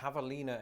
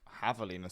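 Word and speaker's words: javelina: damn javalina a yes Havalina and it's very important Havalina should I say my bad you do pronounce it the Spanish way lest you confuse it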